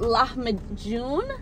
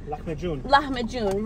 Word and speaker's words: lahmacun: it over there, but in my culture, they call it lahmacun. Lahmacun, right. Lahmacun. You have to stay with the... Lahmacun. Like you're about to hawk up a... furball.